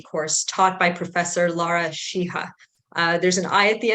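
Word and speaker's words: Sheehi: required first-year diversity course taught by Professor Lara shiha there's an eye at the end of her name but I've been informed that it's pronounced shiha so what are the basic facts probably many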